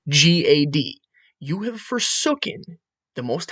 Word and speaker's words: Gad: for g a d g a d cannot properly be pronounced as ADD with a G g a d remember Airy the a carries a ah or ah so Gad can only properly be pronounced as odd with a G time with a G